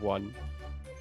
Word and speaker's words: one: Can we talk about the word one? And you pretty much say it as W-A-N, but it's spelled completely different.